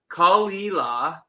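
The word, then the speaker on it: Caol Ila: Okay, so it's pronounced Kalila.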